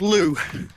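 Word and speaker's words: Looe: The family's dropped me off about 10 miles away from a place called Loo. I'll spell that, it's L-O-O-E, and they're going to meet me there.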